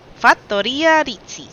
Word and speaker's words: Fattoria Rizzi: So it's supposed to be Fattoria, which is homestead or farm, and then Rizzi, which is their last name.